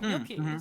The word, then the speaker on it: Mielke: Mielke. I've been trying to say it right. It's Mielke. So sorry to everyone who's heard me say Mielke for the last like several weeks. It's Mielke, or kind of like that.